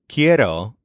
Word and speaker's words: quiero: the most frequent form of this verb is kiero which means I want this is spelled Qi e r o for example I